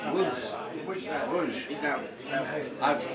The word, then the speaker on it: Łódź: What's the pronunciation? Wódź.